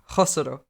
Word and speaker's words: Khosrow: Instead of a k, it's meant to be like a Spanish J. So pronounce it properly. Khosrow.